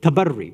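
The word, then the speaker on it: تبرّي: for doing this bu'd, tabarri, or tabarra, if you want to use it, the way we mispronounce it, keeping away and distancing ourselves from all forms of kufr.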